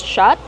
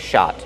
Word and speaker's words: shot: Shot, use the open ah sound like hot and stop.